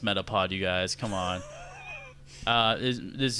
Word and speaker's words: Metapod: It's pronounced Metapod, you guys.